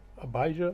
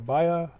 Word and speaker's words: Abijah: fourth king of Judah uh abijah or abayah however you want to pronounce it uh actually if you